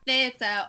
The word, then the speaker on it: THTR: So that's on Instagram, and then on Twitter it's at Plasticast, but theatre is spelled THTR, so it's Plasticast THTR.